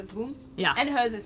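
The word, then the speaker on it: Bum: His boom is spelled B-U-M, but he's French, so he says boom.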